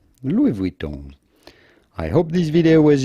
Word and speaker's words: Louis Vuitton: about pronouncing louis vuitton with the typical french pronunciation well it's not louis vuitton but do not insist on the final end